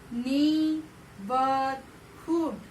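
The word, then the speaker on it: neighbourhood: नीबरहुड. नीबरहुड. देखिए GH का pronunciation नहीं आ रहे.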